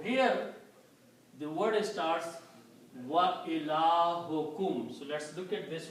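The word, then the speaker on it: إلهكم: So when you combine these two, you pronounce ilahukum, your God.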